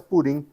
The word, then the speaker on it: Purim: Ou pur seria a a pronúncia persa, purim a pronúncia hebraica.